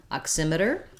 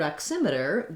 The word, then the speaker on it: oximeter: correctly in this word oximeter the x says a k and an s sound and s and the